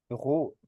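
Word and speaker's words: Brot: والاو والاي والاي تمام لو جه قبليهم حرف ار هنطقه غين زي كلمه بغوت بغوت يعني ايه بغوت يعني خبز طيب الكلمه اللي بعديها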